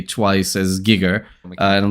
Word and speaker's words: Giger: Oh, HR geiger is pronounced HR gigger in English with a hard g sound and giger in his native German and Swiss German.